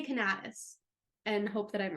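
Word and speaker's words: Canatis: name is Gregory W I think it's pronounced canis okay it's CA n a t i s okay I thought canus but I listened to a podcast that said canis okay so I'm gonna say cantis and hope that I'm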